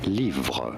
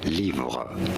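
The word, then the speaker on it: livres: the word book so how do you pronounce this in France it is said as lra lra the S is silent because it's at the end so just IGN we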